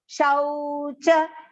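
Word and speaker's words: शौच: Shaucha, that shau is also long pronunciation. Do not pronounce it as Shochanam, it is shau, au, okay?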